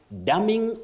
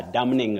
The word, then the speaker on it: damning: put it the N is Silent not pronounced so you say daming report not a damning report okay daming it is